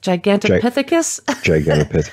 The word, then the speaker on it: Gigantopithecus: there was any correlation with, see if I'm pronouncing it right, Gigantopithecus? Gigantopithecus.